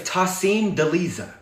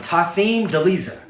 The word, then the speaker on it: Tasim Deiza: For many of you, if you do not know, my name is Tasim Deiza. That is how you pronounce it. Tasim Deiza.